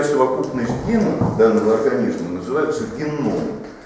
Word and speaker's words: геном: Ну, число это достаточно ориентировочное, но вообще-то вся совокупность генов данного организма называется геном. Ударение делается на О. Геном.